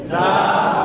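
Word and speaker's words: زاي: কি হবে জা সেক্ষেত্রে জিহ্বার আগাটাকে এই দুই দাঁতের মাঝামাঝি রাখবে নিচের দাঁত এই নিচের দাঁতের পেট এবং মানে নিচের দাঁতের মাঝখান এবং নিচের দাঁতের আগা আর দাঁতটা মোটামুটি কাছাকাছি এভাবে জা যা زا زا روزہ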